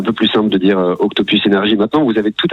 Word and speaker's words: Octopus Energy: C'est la régie pub d'énergie qui nous dit bien le prononcer. Vous savez, quand ils nous mettent un mail, bien le prononcer en anglais.